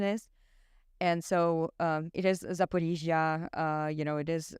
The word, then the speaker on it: Zaporizhzhia: okay, now I really know what the correct pronunciation is. And so it is Zaporizhzhia, it is Kharkiv, it is Donetsk, it is not Donetsk, as a lot of So not Kiev.